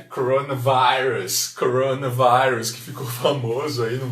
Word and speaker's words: coronavirus: Quase igualzinho, só muda a pronúncia aqui do I, né?